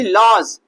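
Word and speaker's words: lodge: तो हम यहाँ पर भी हमारा जी से पहले क्या आ रहा है, डी आ रहा है, तो डी क्या हो जाएगा, साइलेंट हो जाएगा। यहाँ पर भी लॉज, तो लॉज में भी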